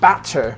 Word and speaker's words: batter: would be British English we actually say batter in American English with two DS but it's spelled with two T's so why don't I say the t's well because I'm American and Americans like to make our tea sounds like bottle water DS so this is called